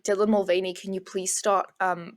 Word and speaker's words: Mulvaney: about waiting Bud Light over Dylan Mulvane Dylan Mulvaney is that how you say her name yeah